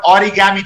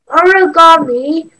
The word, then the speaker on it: origami: Origami, Japanese pronunciation. Be a little louder, please. Origami, Japanese pronunciation. Origami or origami. From ori means folding and kami means meaning paper. Kami changes to gami due to rendaku.